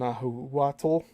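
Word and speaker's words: Nahuatl: These include words of an archaic Greek in Hawaiian and other Polynesian languages in the Maya language of the Yucatan and Nahu Watal. And that's spelled N Ah U A T-L the language of the Aztecs and the lost gowanche language of the Canary Islands.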